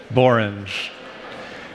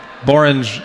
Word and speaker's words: borange: I'm going to leave you with something better, which is this word, borange. People say there's no word in the English language that rhymes with orange except borange.